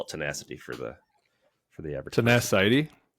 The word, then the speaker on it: Tenacity: Let's just call it tenacity for the average person. Tenacity. Should get that I put the emphasis on the wrong syllable.